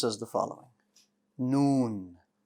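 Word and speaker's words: نون: pronounced as the following noon noon noon very good the letter noon is light that means the back of your tongue is going to stay flat and you're going to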